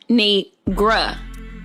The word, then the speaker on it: Kinigra: It's pronounced cuh. Kinigra.